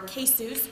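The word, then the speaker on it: KCEWS: Um we call ourselves the center or case or kesus which rhymes with couscous or Dr. Seuss.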